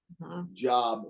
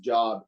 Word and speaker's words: Job: J-O-B. Job, but it's not pronounced Job. It's Job.